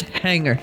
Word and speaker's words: hangar: is our skell Hangar Hangar spelled Hangar pronounced hanger I hate English this